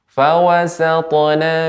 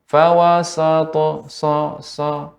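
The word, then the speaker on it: وَسَطْنَ: Fawasatna bihi ya, ketika saya potong fawasatna, jangan sampai fawasato nah, sehingga terkena pengaruhnya.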